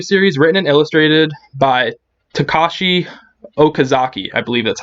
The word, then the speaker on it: Takashi Okazaki: So, Afro Samurai is a manga series written and illustrated by Takashi Okazaki, I believe that's how you pronounce it.